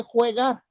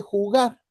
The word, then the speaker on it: jugar: Y rápido el maestro, no, no, espérate, no se dice juegar, se dice jugar.